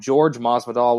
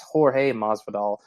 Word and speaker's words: Jorge Masvidal: I think I keep hearing other podcasts call him George Masvidal, like it's Jorge Masvidal.